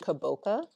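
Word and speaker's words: kabocha: I think this one is pronounced kaboka squash.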